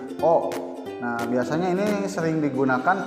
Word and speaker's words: を: Nah ini juga sama ya minasannya, dibacanya o.